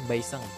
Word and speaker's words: baiseng: San itu bahasa Bugisnya baiseng. Besan. Jadi penyebutannya baiseng. Baiseng, baiseng atau beseng.